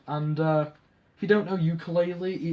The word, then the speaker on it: Yooka-Laylee: And I actually thought you were about a ukulele, like a little guitar thing. Yooka-Laylee. It's spelled YOOKA-LAYLEEA.